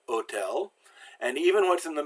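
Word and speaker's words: hôtel: Well, the H is always silent. Hotel, it's like it starts with an O, so hotel.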